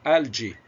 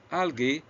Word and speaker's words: algae: Is algae أو algae the future of food؟ طبعا كلمة algae ده النطق اللي هو British pronunciation، النطق البريطاني. algae هو الأمريكان pronunciation.